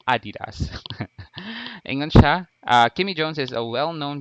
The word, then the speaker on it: adidas: ever used and yes that is the correct pronunciation adidas kimmy jones is a well-known basketball basketball player